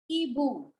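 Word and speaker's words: hibou: Hippo and Ibu. Ibu. Ibu. is, yes, H is silent in French.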